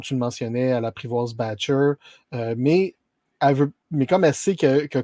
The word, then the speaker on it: Batcher: C'est Batcher, mais avec son accent anglais très prononcé, ça sonne comme Betcha.